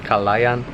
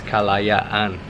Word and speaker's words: Kalayaan: Kalayaan? Very good. We found out that we've actually been saying the name wrong this whole time. We kept saying Kalayan and it's Kalayaan.